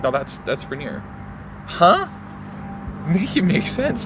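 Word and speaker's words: Rainier: across the country, how how does everyone say Reneer and they don't it up and say Reineer cuz it's spelled like that or or Ranier even cuz it's spelled like that, right?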